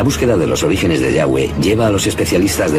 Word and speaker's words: Yahweh: Pensamos que probablemente se pronunciaba Yahweh o algo así, pero Yahweh solo aparece en la Biblia hebrea.